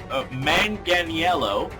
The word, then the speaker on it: Manganiello: hell do you say his name uh joe manganiello if i've said that name wrong please let me know you certainly look